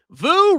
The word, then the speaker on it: Vu: Vu rhymes with poo.